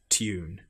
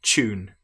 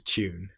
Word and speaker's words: tune: In fact, some of these are different in American English, for example, where they will say tune, but in British English, we say tune. Some will even, if they're getting lazy, pronounce this as the ch sound, tune. But correct is tune.